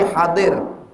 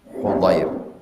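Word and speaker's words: حُضير: Dari hadir, salah. Hudair.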